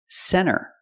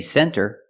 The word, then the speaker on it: center: first example is NT when you see NT a lot of times you don't hear the T example Center of course you can say center it's correct but a lot of Americans will pronounce it Center or this word 20